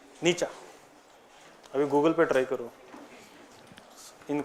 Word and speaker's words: Nietzsche: than a bad reputation frederick nietzsche it is pronounced nietzsche nietzsche have you googled petra in karnataka means a